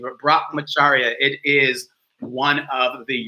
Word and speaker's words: brahmacharya: to be i had to practice a little brock magira which is sanskrit for moderation i had to